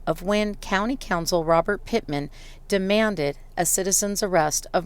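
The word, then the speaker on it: Pittman: the motion upside what's your last name sir Pitman can you spell that for oh there we go p i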